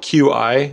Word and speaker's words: Qi: It's spelled QI. That's like the most common standard, but it's pronounced Qi.